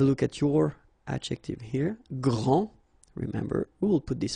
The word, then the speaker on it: grand: you don't the day here and you don't pronounce the final s okay so gr and then same thing here gr and regarding the feminine form you will pronounce